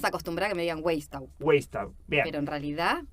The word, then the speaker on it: Weisstaub: Hoy nos acompaña Weistau.